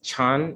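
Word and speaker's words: 禪: We continue with Dhyāna, which I believe is translated or uttered as Chan in Chinese. And subsequently in Japan, it is pronounced as Zen.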